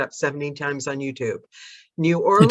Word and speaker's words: New Orleans: on youtube new orleans it depends if you're here or if you're there if you're from london you pronounce it new orleans if you're from here you can pronounce it new orleans new orleans so if i'm doing new orleans and i want it authentic it's new orleans well it's one word